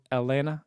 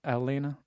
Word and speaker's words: Atlanta: you get there just make sure not to pronounce the t's in it so Elena Elena okay Elena Elena all